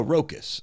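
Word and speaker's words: Rowkiss: says his last name is rocus rocus r-o-w-k-i-s-s pronunciation oh rocus okay rocas we're calling them rakos and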